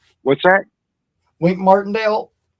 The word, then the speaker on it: Martindale: I I believe we see um the guy from the Giants, I get his name wrong, Martale or I I have his name. What's that? went Martindale.